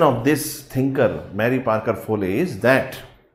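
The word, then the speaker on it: Follett: The next management thinker और philosopher is Mary Parker फोले। Actually the correct pronunciation is फोले, बट इफ यू go with the spelling it इज फोलेट, FOLLET, फोलेट।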